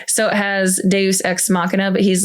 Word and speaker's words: Deus ex machina: on it and it's supposed to be the pronunciation. So it has Deus ex machina, but he's like, Duzum's ex-mangina.